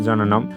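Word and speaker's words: জ্ঞানম্: হচ্ছে বলেই দিলাম যে জ্ঞানম সমান হচ্ছে জননম তো এখানে একটি আসলে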